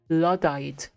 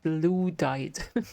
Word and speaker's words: Luddite: Hey Primeagen, I just wanted you to know it's pronounced Luddite, not Luddite.